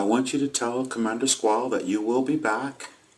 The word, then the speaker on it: Sqal: Do me a favor and spell it if you will. SQAL. Squall.